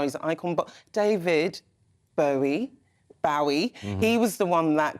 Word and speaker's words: Bowie: Well, you might like it, but his name was Bowie.